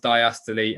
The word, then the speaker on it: diastole: say diastole and systole it should be pronounced diastole and systole okay so which of